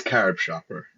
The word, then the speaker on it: Caribshopper: would you pronounce that it's carob Shopper carob so Carib for Caribbean yeah and of course we